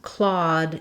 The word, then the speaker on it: Claude: So the name Claude in English has the ah vowel, just like in the word claw, like a cat's claw. So the past tense Claude is the same as this name Claude.